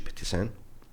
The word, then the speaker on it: Pettis N: different, I was like, "Okay, I'm going to pronounce myself as a DJ Petissen, but my logo I will make it stand out and I will do it Petissen music, like Konvict music."